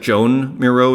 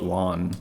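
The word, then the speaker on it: Joan Miró: like early one mirror it looks like Joan Miro is the pronunciation but you call it Juan from my understanding there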